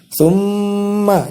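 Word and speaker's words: ثُمَّ: Tsumma, cara membacanya yaitu mendengungkan, menahan huruf mim selama 2 ketukan.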